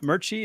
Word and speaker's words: Merchey: I've got with me Murchie. Is that the correct pronunciation?